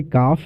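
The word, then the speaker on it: calf: सॉ the date काल्व देखो काल्व लिखा है पढ़ते काफ है एल इसमें साइलेंट होता है मतलब बछिया इसका मतलब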